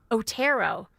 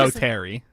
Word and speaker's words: Otto: Otto. Otto. Not Otter.